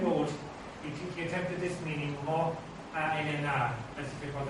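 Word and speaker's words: magh: What happened basically was this, that the word maw came to be pronounced in Irish when you had two words as mo. There are quite a few examples of that, M-A-G-H, a plain came to be pronounced as mo.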